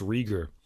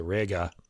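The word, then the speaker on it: Reger: dense cordal agglomeration of Max rer or I should say Rea for the German pronunciation lightly cascading lines with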